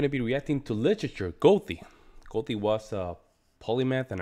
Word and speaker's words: Goethe: A safe bet is to start with a hard G on G and end with a T, Goethe.